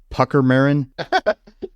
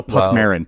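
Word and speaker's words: Puckmaren: thing is called a pucker marin oh no Puck Marin Puck Marin not pucker Marin Puck Marin Puck Maron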